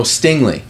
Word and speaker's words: Stingley: was a walker Hutchinson sing or stingle however say his name is oh Stingley yeah Stingley he went